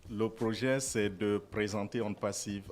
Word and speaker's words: ONPASSIVE: Ils viennent nous présenter la compagnie One Passive. C'est ça, monsieur Fernand, j'ai bien prononcé? Bonjour. Bonjour. Pas parfaitement, c'est on passive. Oh, On Passive. Ok, d'accord, voilà. Parce que c'est en anglais.